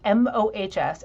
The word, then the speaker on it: Mohs: Yeah, I'd be happy to tell you how to spell it. It's Mohs.